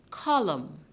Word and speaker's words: column: in the word column it ends with the letter n it is seen but do we hear that sound at the end of column no your lips are tucked in column we have the m sound which is and so n is our silent letter in the word column just now in knee